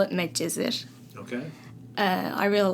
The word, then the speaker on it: Medcezir: Medcezir. We call it Medcezir.